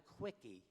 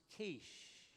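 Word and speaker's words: quiche: I said, "I'd like a quickie." She says, "Sir, that's pronounced kiche.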